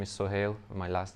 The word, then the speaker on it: Sohail: It's Sohail. It's like it was so haily that I couldn't drive to work.